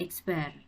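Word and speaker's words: x̄: X pakai tanda atas garis itu dibacanya adalah X bar.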